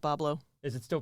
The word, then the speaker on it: Bois Blanc: They just spelled it phonetically, like Chef Boyardee. Okay. All right. Sure. Okay. All right, we'll go Yeah. with it. It's in modern French it'd be Bois Blanc, Yeah.